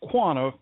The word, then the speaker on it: Quanah: And also, you know, what's really gave me goosebumps was the fact that you pronounced QUANAH spot on, boy.